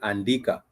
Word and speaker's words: andika: So you'd have it, this is the English letter A, but it's pronounced, or the pronunciation in Swahili is a. For example, in the word andika.